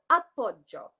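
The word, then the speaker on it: appoggio: confusion around it and it's this term called up Bob Joe so it's spelled a P P o gg I owe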